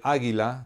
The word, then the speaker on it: águila: sentido en el nombre águila de tres sílabas hay una sílaba que se pronuncia con mayor fuerza que en este caso es la primera con tilde y que